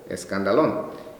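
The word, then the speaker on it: σκάνδαλον: y proviene de la palabra griega que se pronuncia por coma escándalo entonces escándalo nes esas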